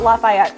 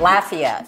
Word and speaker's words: Lafayette: is like you brought Lafayette to us today kind that's right Lafayette yeah sorry that's okay everyone pronounces it like a city in another state but actually if you're from Lafayette its Lafayette Lafayette well thank you so